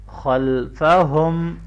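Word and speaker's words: خَلْفَهُمْ: खल्फहुम, खा को मोटा पढ़ेंगे।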